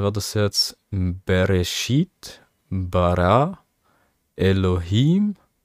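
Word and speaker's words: בְּרֵאשִׁית: sieben Wörter ja Leerzeichen sieht man ja und ausgesprochen wird es jetzt bereschit bara Elohim klingt irgendwie nach einer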